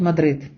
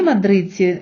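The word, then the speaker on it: Madrid: пишеться в кінці слова наприклад Мадрид іспанці не кажуть Мадрид а самі мадридці в на наві свого міста останню д майже не вимовляють вони наче її видихають Мадрид друзі Зверніть увагу що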